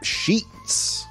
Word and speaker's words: sheet: okay let's um continue sheets on the bed sheets be careful with that vowel sound it's sheet e two of the most